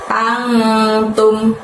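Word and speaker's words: أَنْتُمْ: Lalu setelah itu ada lafaz antum. Pada saat mengucapkan antum tadi angnya disamarkan ya dan ditahan 2 harokat.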